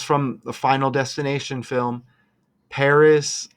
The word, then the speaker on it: Paris: the Final Destination film Paris like Harris okay and remember we had the 2024 Paris Olympics okay rhyming with Harris and look at that